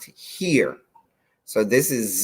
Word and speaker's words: hir: z and here okay h i r is pronounced here so this is z